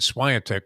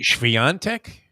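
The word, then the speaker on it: Świątek: the pronunciation of eager I've been saying Swire Tech forever it's really schvian Tech maybe just why don't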